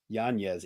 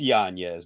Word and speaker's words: Yanez: Yanez. Adrian Yanez. We shall pronounce it correctly and use his proper Is it Yanez?